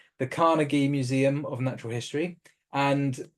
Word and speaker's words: Carnegie: Natural History the Cari that is pronounced right carnegi yeah carnegi the Carnegie Museum of natural history